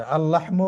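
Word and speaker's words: اللحم: হাওয়া লাম উচ্চারিত হয়েছে আল লাহমু গোস্ত লামটি এখানে এক প্রথম লামটি কিন্তু উচ্চারিত হয়নি। দ্বিতীয়টি হয়েছে।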